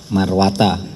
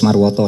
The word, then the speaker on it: Marwata: Berikutnya nih dari KPK Pak Alex Marwata atau Alex Marwoto sama aja saudara bacanya. Pokoknya nulisnya Marwata. Tergantung dari siapa yang baca gitu ya.